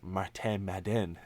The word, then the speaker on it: Martin Madden: point out that uh it's pronounced martin madden never heard it pronounced